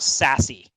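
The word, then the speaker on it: SASE: term and when that new term is pres pronounced sassy um right so you I'm sure a lot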